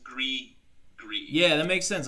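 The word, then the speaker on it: gris-gris: i s g r i s but it's pronounced GRE G yeah that makes sense like G it's French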